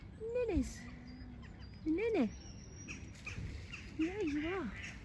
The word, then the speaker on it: nene: In Hawaii they're known as nenes, and that's spelled N-E-N-E. Nenes.